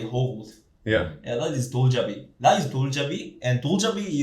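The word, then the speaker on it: 돌잡이: I read there's also a thing called, do I pronounce this right, Doljabi? Yeah, Doljabi.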